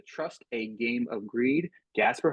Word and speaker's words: Gaspare: want to say is it's Gasper right yes yes yeah I have been saying your name wrong on every podcast so that's this is me apologizing ahead of time uh I've been saying Jasper and I don't know what it is like I just kept on saying J and like I was